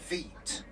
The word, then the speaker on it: Wight: It's a derivative from Veet.